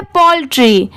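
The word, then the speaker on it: poultry: AND एंड, ये है पोल्ट्री, POUL Paul, और TRY, इसे ट्राई नहीं पढ़ेंगे, इसकी साउंड क्या आ रही है ट्री की, पोल्ट्री।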